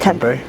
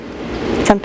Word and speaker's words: Tempe: Tempe. Tempe, Arizona, yeah.